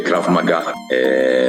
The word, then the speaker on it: Krav Maga: Essa topologia é Krav Maga, essa pronúncia certa, significa em hebraico combate suportado.